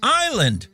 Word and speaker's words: island: Island, the S is silent.